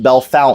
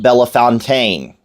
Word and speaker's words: Bellefontaine: the county seat of Logan County it is pronounced Bellefontaine not delafontaine okay if you come here and you call it Belafonte you will be left out of the county